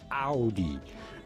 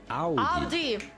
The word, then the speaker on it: Audi: of this automobile brand, but how do you say it in German? Simply Audi. Audi.